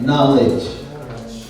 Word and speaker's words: knowledge: want to achieve knowledge the K is silent knowledge brother the time is